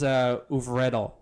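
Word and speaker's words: Øvredal: It's Andre, a little O with the thing through it. And Oopnow. No, it's not. I think his name is Uvredal. I think.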